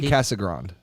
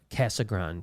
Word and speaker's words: Casagrande: How's it pronounced? It's Andy Brandy Casagrande. Casagrande.